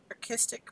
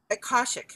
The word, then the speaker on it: Akashic: Like I believe I had a reading with this gal who I love for my archistic, wait, I'm pronouncing it wrong, the records. And Akashic, sorry.